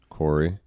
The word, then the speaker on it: Khoury: Corey, spelled Khoury, pronounced Corey.